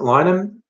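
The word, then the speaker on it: Linehan: For those who don't know, Graham Lynham, how do we pronounce it? Lynham.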